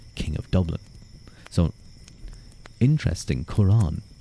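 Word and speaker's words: Cuarán: of Dublin so interesting Quran that's a kurin I suppose would probably be the better pronunciation but that's a that's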